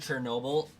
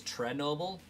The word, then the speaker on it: Chernobyl: Most of my life, I heard Chernobyl pronounced as Trenoble, so I always thought it was spelt with a T-R-E.